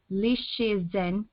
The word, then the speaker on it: Li Shizhen: In 1552, during the later Ming Dynasty, Li Shizhen is how that's pronounced, whom lived from 1518 to 1593, began revision on the monumental Pinsao Kanmu, which is the Herbal with commentary.